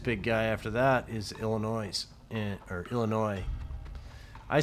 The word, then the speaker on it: Illinois: funny when they say Illinois with the S but I think the S is silent enough of that but